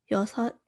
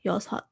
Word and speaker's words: 여섯: So like 여섯, it just cuts off like that.